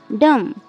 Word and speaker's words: dumb: जैसे डम, DUMB। यहाँ पर एम के बाद बी आ रहा है, इसलिए यहाँ पे बी साइलेंट है।